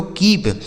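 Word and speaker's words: keep: और इस पी का उच्चारण हमें प कर देना है। डबल ई से बड़ी ई की मात्रा यह लिखा गया दोस्तों कीप के डबल ई पी कीप ठीक है डी डबल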